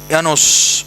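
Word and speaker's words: Llanos: So that is tropical grassland characteristic places are examples right yanos Venezuela it's pronounced as yanos double l a s campus brazil mograso Brazil and Argentina.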